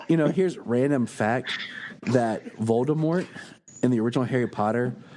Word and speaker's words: Voldemort: here's random fact that Voldemort in the original Harry Potter like books when she wrote it was supposed to be more along the line of a silent T like a French pronunciation but then the first